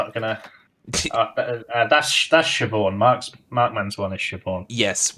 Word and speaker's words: Siobhan: That's Siobhan.